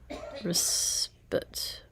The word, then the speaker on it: respite: Respite. Respite? Respite. Respite. It's respite. There's a, and it is spit. It's not spite.